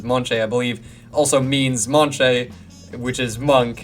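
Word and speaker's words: München: But then for their heavy rival team, what I am calling the Deutschland Monche, from Monche, which I believe is how you say Munich.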